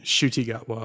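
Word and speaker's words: Ncuti Gatwa: Shooty Gatwa. Shooty. So the N is silent.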